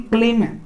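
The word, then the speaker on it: climb: Pronunciation, लेकिन letter तो अलग होता है लेकिन प्रोनाउंसिएशन सेम हो रहा है। यहाँ पर देखिए मित्र हम क्या लिखे हैं? क्लीम।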